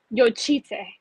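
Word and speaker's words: Jocytė: Can Sophia tell us about, is it Jocity? How do you pronounce that? I'm sorry. So it's Yochite. Yochite? Yes. Oh, people are going to have fun with that one. It's Lithuanian, so it's a little different.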